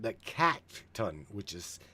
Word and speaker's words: katun: Then we've got what's called the katun, which is spelled k a t u n and that is the number zero.